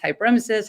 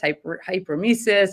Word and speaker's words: hyperemesis: And it could be pronounced hyperemesis, hyperemesis, or it's Latin, hyper meaning too much, emesis meaning vomiting.